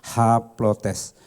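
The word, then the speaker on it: ἁπλότης: Kalau perempuan pakai awalan he, tetapi kalau pria pakai awalan h. Jadi haplotes sebetulnya tulisan yang betul adalah aplotes ya, tetapi karena ada artikelnya maka bacanya adalah haplotes.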